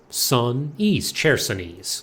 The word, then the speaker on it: Chersonese: Chersonese. Chersonese. Let's use 3 syllables.